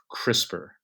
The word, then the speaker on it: CRISPR: that whoever named it named it in a way that gave it a short pronounceable acronym like crisper crisper has made DNA